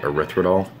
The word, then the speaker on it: erythritol: is calorie free and car-free the it's called erythritol that's how you pronounce it but it's a natural sweetener that's